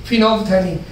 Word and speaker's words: phenolphthalein: Spelling देखिए अजीब सी है, PHENOLPH, फिनोल्फ, THALEIN, थैलीन, फिनोल्फथैलीन. ये भी हम देखेंगे कि